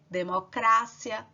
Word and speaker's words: democracia: polícia democracia em espanhol vai ser o quê democrácia cérebro em espanhol cérebro não vejo a sílaba tônica onde você vai colocar mais força